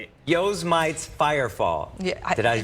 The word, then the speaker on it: Yosemite: Call it Yosemite's Firefall. Yeah, Did I pronounce that right? Yosemite. Okay. He said, yo's mites, bro.